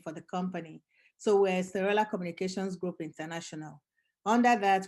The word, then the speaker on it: Esterella: And Esterella is, I know people spell it Estrella. That's the Spanish version, but mine is Esterella. So it's Esterella.